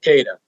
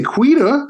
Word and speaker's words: Keita: The proper enunciation of Keita. I was impressed, Gary. Keita, yeah. Made me smile. Good, yeah. I didn't say Quita. I said Keita.